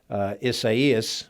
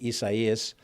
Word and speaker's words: Isaias: close eye on on hurricane isaiah's we have to make sure we pronounce it probably isaias it is making its